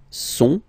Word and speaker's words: sont: Okay, ils sont, final T not pronounced, ils sont, elles sont.